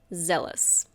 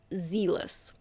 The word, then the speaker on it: zealous: Zealous. Be careful of the pronunciation. It's not zealous. It's zealous.